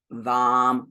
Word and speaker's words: vam: The A in each of these is pronounced as ah. So lam, vam, ram, yam, ham.